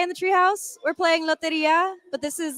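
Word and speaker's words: Lotería: Mexican bingo is pronounced again? Loteria.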